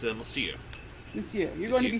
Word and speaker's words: Monsieur: How do you pronounce that? It's Monsieur.